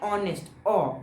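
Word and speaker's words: honest: अब हम लोग जब ऑनेस्ट कहते हैं ना, हम लोग एच का यूज नहीं करते, वहाँ साइलेंट टाइप का हो जाता है वो। तो इधर किसका आवाज आता है, ऑनेस्ट, ओ का आवाज आ रहा है ना, इधर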